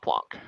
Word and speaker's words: Planck: It's actually pronounced Planck. Yeah, of course. constant. This is what I'm talking Oh, about. no. Why would we go to fucking Planck's English sources for German name?